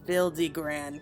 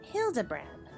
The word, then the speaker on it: Hildibrand: Since parting ways I've searched every alley and dive bar and every keep for signs of this Bildy Grand character. It's pronounced Hildebrand.